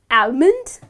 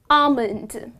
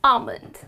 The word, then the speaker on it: almond: to pronounce it as almond but that is incorrect the correct pronunciation of this dry fruit is almond so in this word the letter L is silent and the correct pronunciation is almond I eat almonds every